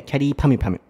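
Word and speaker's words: きゃりーぱみゅぱみゅ: Yeah, but the English pronunciation is like carry, like carry bag. Yeah. But can you say in a Japanese way, carry pami pami?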